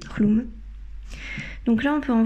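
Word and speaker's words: Chlum: tu de colomb donc avant moi je disais chou et puis en fait gergy chercher là j'ai cherché les la prononciation pour faire cette vidéo et voilà j'ai appris que ça se disait klum donc là on peut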